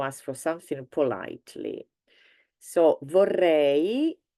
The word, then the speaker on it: vorrei: So vorrei, don't forget to pronounce the E, the last E, so the EI, or in Italian EI, vorrei, I would like, followed by whatever you'd like to have.